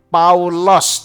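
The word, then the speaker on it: Παῦλος: itu nama Yunani Romawi Paulus kalau dalam bahasa yunaninya lebih tepat paulos tulisannya Inggris Paul ya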